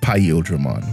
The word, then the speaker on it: Paildramon: Listen, the big difference was that one liked Era of Udramon, and the other one liked Paildramon, which it's pronounced Paildramon, not Paildramon.